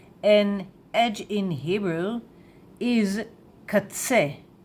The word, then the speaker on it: קָצֶה: And edge in Hebrew is katse, katse, katse, katse, katse.